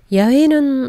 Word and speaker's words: 야훼: 야훼는 오히려 더 늦게 찾은 것이죠. 야훼는 히브리식 발음에 더 가깝다고 생각해서 사용하기 시작했고요.